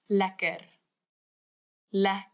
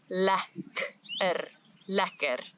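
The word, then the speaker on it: lekker: sometimes say, but it's more commonly used as ler ler. Nice. Delicious. This food is very nice. This word is a must. You must learn how to say this word. Ler ler because it is used all the time in South Africa.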